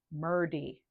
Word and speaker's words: Murdy: Murdy. I don't know that name, but like rhymes with birdie, Murdy.